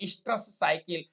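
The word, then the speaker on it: oestrous cycle: मध चक्र नहीं होता है मतलब स्ट्रस साइकिल, जिसको शॉर्ट में बोलते हैं ओसी। ओसी को पढ़ते हैं स्ट्रस साइकिल। ध्यान रखिएगा इसमें ओ साइलेंट होता है, स्ट्रस साइकिल बोलते हैं।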